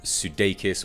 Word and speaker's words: Sudeikis: key actors you've got Adam pally and Jason Sudeikis or yes that is how you pronounce that name both of them are the